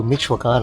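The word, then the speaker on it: Michoacán: Because I know Michoacan, I nailed pronunciation of that.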